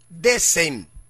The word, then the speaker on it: decem: Y en latín se pronuncia decem, que significa 10 o 10º.